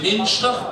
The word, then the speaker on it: Münster: Le Münster, prononcé Münster, on apprécie tout particulièrement la compagnie des oignons de mai ou Maizebele, prononcé Maizebele.